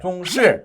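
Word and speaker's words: 重视: 이 단어는 4 성조 이지만 , 한 단어 에서 두 번째 음절 을 약하게 발음 해야 한다는 것 을 제대로 이해 하지 못하면 많은 사람들 이 정반 대로 발음 합니다 . 즉 , 첫 번째 부분 을 약하게 하고 두 번째 부분 을 더 강하게 발음 하는 것 입니다 .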